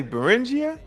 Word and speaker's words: Beringia: yeah that it's burn so I've been saying it wrong all this time the buringer the buringer streets yeah so who what y'all say beringia straight and Bing are